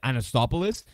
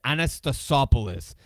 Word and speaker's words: Anastasopoulos: They get a lot of hands on balls, whether it's Keon Cyrus, of course, Sam I realize I've been saying his last name wrong. I always said Anastopoulos. It's Anastasopoulos. Now that I really Ask read PZI his says name says correctly.